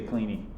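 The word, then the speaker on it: Kleene: it up once this this person cleany apparently does not pronounce their own name like cleaning but everybody likes the sound of it so much like everybody that i've ever heard you know real life computer scientists they say cleaning cleaning closure it's more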